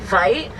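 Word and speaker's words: wyd: for their color either the name white is a it's like a mispronunciation of an offer con's word Vite means wide you going to change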